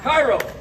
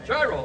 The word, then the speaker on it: Chiro: Cairo, where are you? Shiro. Chiro. Okay, we'll pronounce it correct.